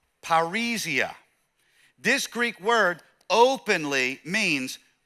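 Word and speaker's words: παρρησία: I'll phonetically spell it out as paria.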